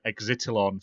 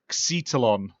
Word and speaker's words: Xitalon: I've been calling the developer Exitalon for ages, and they emailed me and said you're saying it wrong. It's Xetalon.